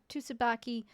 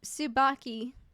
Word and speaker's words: Tsubaki: heard from Mrs uh Tsubaki Su subaki I what why am I pronouncing the T when I know for a fact it's not pronounced U men's return safely